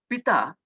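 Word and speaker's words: Ptah: girl called p-t-a-h p-tth the pronunciation actually if you feel that is the same Pita means he was the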